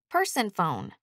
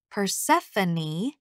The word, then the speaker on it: Persephone: the story to him no amount of my insisting that it's pronounced Persephone has made a dent